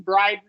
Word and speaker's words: Bryden: Yeah, Braden, Bryden, who knows? I used to have a friend. I used to have a friend named Bryden, right? So it's spelled it differently, but D-E-N, we glottal D'd his name, Bryden.